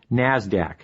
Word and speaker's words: NASDAQ: Stock Exchange nysse and the NASDAQ which is pronounced NASDAQ NASDAQ stands for the National Association of Securities